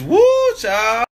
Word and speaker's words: whew chile: Like W-H-E-W Chile. Chile? It's woo child.